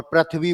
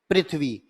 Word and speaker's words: पृथ्वी: दोष पाया जाता है हम इसे रे उच्चारित करते हैं और पृथ्वी बोल थे जबकि रह नहीं होता री पृथ्वी पृथ्वी नहीं पृथ्वी री होता है हम इसे रैप उच्चारित